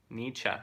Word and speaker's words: Nietzsche: or the other Bob Dylan's great I mean Nietzsche okay good yeah I said it right cool that's good cuz I mispronounced all the other stuff so I mean